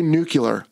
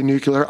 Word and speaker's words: nuclear: And also, for you pronunciation purists out there, yes, we both say nucular. I tried to fix this. Frankly, I don't think I can help it. I'm just going to say nuclear.